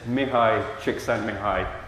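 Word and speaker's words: Mihaly Csikszentmihalyi: The correct pronunciation of his name is Mihai Csikszentmihalyi.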